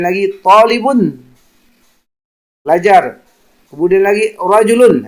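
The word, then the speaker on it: رَجُل: Kemudian lagi rajulun, hati-hati karena beberapa siswa dalam jawaban membacanya rijalun atau atau dibaca rijalun, yang benar itu dibaca rajulun.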